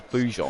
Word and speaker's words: Grosjean: That's what I called him before, but then I hear people saying it was Blue Jean.